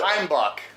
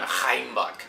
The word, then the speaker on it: Heimbuch: Heimbuch. Is that how it is? That is how you actually pronounce it, yes. Whatever, I'm never doing that, but... That's fine, I don't care. More of a phlegm. Heimbuch.